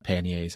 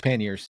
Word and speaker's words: panniers: finally upgraded to panniers, which I found out that is the proper way to say it. It's not panniers, as we'd like to say sometimes here in Canada. It's panniers. But yeah, I've been eyeing